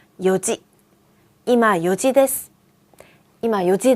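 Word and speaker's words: 四時: 4시는 불규칙이었는데요. 이온지가 아니라 요지.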